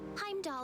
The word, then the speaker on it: Heimdallr: entirely beside the point Heim doll is just 30 minutes from by train so you do not pronounce the r add 20 more minutes